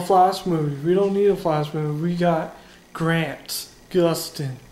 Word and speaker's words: Gustin: We got Grant Gustin. Gustin. You gotta say it like you're getting punched in the stomach.